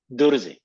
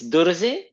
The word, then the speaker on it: Druze: Mansur, let me get into this because first off, is it technically pronounced Druze or Druze? Druze.